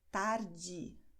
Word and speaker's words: tarde: Bem, continuamos com um fenômeno bem interessante no Brasil, que é que a letra E, no fim da palavra, tem o som de I. Nós escrevemos E e nós pronunciamos I. Tarde, noite, que são palavras que nós já vimos no começo desse vídeo.